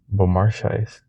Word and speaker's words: Beaumarchais: To bypass this, how do you say this name? Beaumarchais? Schais? Beaumarchais. A woman speaks French, she'd know.